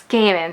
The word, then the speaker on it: Gaiman: It's Gaiman. So good to know I mispronounced his name during the entirety of the last vlog.